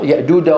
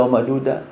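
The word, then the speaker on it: يأجوج: هنا ليس من هنا بعض الاخوه الله يهدينا جميعا بينطقها كالدال بقول لك يدعلون من الشيطان الرجيم الرديم ايش هذا الرديم هذه جيم اللي عم تنطقها ياجودها وماجوده مين هذا ياجودها ياجوج ياجوج ياجوج وماجوج انتبهتوا الجيم من وسط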